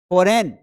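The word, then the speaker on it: foreign: तो जी को हमें प्रोनाउंस नहीं करना है।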